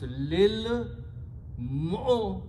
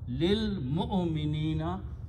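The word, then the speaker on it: لِلْمُؤْمِنِينَ: And this waw, dhamma is pronounced as a kasra. So it becomes, and this alif is not pronounced. So it becomes lil mu'minina. Lil mu'minina. Don't pronounce waw here.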